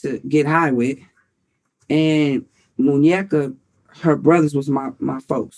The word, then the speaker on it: Muñeca: Muñeca? Yeah. Am I pronouncing it right? Muñeca, you right.